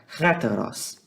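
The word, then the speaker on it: ἕτερος: Deveria ser mais ou menos assim, tá? Heteros, tá? Eu sei que aqui tá aparecendo um i, mas aqui tem um acento aqui que vai fazer uma pronúncia aspirada, então vai ficar heteros, ok?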